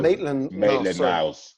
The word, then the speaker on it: Maitland: say it it's maybe yeah yeah that's right maitland anyways was getting played in the wrong positions